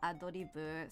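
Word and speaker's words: アドリブ: In Japanese it's Adoribu, so it's ad lib.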